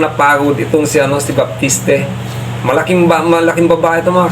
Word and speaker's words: Baptiste: player na America si Baptiste. Kung naririnig ko ang pronunciation nila Baptist. Pero kung sa akin babasahin ko baptiste dito naging mahigpit yung